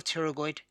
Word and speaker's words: pterygoid: wrong so the external and the the medial pterygoid there one of the current the extra on